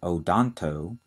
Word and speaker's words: odonto: that relate to teeth the first one is odonto o d o n t o and the